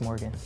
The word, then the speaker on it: Morgxn: name with long please it's beautiful when you say it like that thank you it's just Morgan and check out the